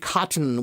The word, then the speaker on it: cotton: Cotton with a hard T.